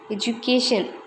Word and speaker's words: education: We often hear when the educated people saying education with D. The D should be pronounced as J. Education.